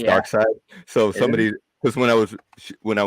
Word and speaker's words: Darkseid: that the display and I said uh doc seed and somebody's like Darkseid what the heck died yeah so dark side well I mean if you look at it like it's spelled hey morning Gary yeah